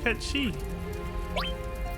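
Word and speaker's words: Cait Sith: Oh, I want to talk to Kate Sith. Dangerous. Count me out. Ketchi. That's a cute pronunciation too.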